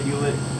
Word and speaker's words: Hulett: really say my name we say we say huet oh H but up here you guys probably say right honestly I don't know